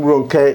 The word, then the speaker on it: Ronke: And I love the name Ronke. It's not 3 syllables, but it's more than 2 syllables.